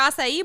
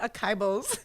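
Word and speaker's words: açaí: see you with your acai bowls honey yes and i always call it a kybos and my daughter goes mom that's not how you say it i'm like and it's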